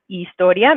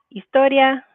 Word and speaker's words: historia: So we can see from the box, it's la historia. Make sure you don't pronounce that H, not la historia, but la historia.